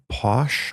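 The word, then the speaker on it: Pausch: want to bring up is Randy Posh I believe is how you say his name uh but he has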